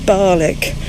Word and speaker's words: Barnoldswick: of Bowland towards Barnoldswick, which apparently is pronounced Barlick to the locals.